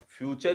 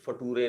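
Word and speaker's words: future: लेकिन ये फ्यूचर ही होता है, ये फटूरे नहीं होता है, और ये नेचर होता है, ये नटूरे नहीं होता है, ठीक है।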